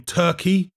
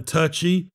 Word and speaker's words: Turchi: body shot well actually they pronounce his name turkey rather than turchi but i don't want